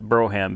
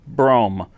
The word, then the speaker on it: Brougham: 1996 Cadillac Fleetwood Brougham or as I used to call it Broham because you know I'm uneducated hey it's not my fault that nobody ever taught me the right way to say Broham I mean brome anyway here's my beautiful